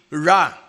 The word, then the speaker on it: Ra: now Sino po yyung re o ra ang re po pero ang pronunciation ay ra no ho si RA